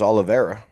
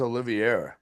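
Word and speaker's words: Oliveira: Charles Olivera. Is that how it's pronounced? I always thought it was Oliviera. It is not.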